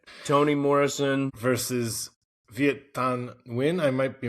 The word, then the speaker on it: Viet Thanh Nguyen: Toni Morrison versus Viet Thanh Nguyen. I might be mispronouncing that. Let me know, pretty GJ. close. Yeah, that's good. Okay. Yeah, that's right. Viet Thanh Nguyen.